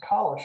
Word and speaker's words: Calisch: opportunity to do this i'm nelson collish actually um but that's okay sorry i've mispronounced your name not at all most people do um i'm a native